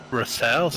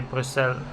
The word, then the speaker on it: Bruxelles: You say Bruxelles. Brussels. Yeah, makes sense. So it's like Bruxelles is like French, and then Brussels is how you would say it in Dutch, I guess.